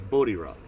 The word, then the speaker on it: Bodie Rock: But it's Bodie Rock. That's the correct pronunciation.